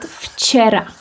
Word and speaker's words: včera: Let's take a look again at the word včera.